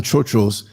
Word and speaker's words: trotro: Now there's ways of pronouncing it, and I guess my American accent gets in the way of it, but it's Trotro. Like people say trail, but it's not like that. It's chotro, right? Like the dollar vans in New York City.